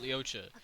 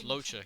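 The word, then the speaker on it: Luocha: I keep calling it Leocha. It's Locha.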